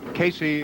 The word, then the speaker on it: Caissie: As you can see, Casey is the way her name is pronounced, but it is not spelled that way because it's an anglicized version of what is basically a French name.